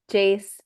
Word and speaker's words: Jace: Jace, rhymes with pace.